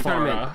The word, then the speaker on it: Pharah: It's pronounced Farah, but go on.